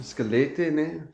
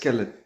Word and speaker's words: Skelete: I'm here with Scallete. Is that how you pronounce your name? That's skelelet. Scallet. Just skelelet. Yeah, skelelet. Yeah, we don't pronounce the last e.